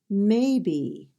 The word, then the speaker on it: maybe: we P P P maybe two syllables may be and the first syllable is stressed maybe the next word is